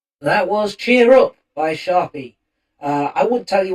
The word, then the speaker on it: Sharpie: can find him under Sharpie is here. That's uh Sharpie. S H A R P I E like the pen.